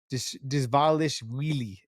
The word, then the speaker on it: Dvalishvili: It's the wheelie part at the very end. It's not Vili. It's wheelie, like a W.